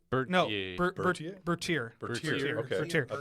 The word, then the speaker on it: Bertier: Jerry Bartier? No, Bertier.